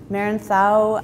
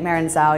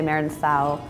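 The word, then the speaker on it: Merenzao: of the richer items Marin sau which is the Spanish pronunciation I think if you're you know saying it Mara and Sal you're also correct but the Spaniards would say Meredith ow it's actually the same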